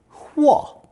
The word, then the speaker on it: 和: One of the least common pronunciations is fourth tone 和, unless you are a